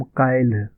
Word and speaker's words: काइल: मैं कल नोएडा जा रहा हूँ, हम काइल, देखिए यहाँ पे इसका उच्चारण देख लीजिए, हम काइल, काइल, कल जिसे हम हिंदी में कल बोलते हैं उसको मैथिली में काइल बोलते हैं, काइल।